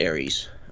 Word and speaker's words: Ares: We pronounce it Ares.